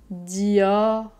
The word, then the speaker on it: Dior: contre les dents inférieur dior dior mais ici le r est pas très fort va pas faire dior juste dior dior dior ensuite on a quartier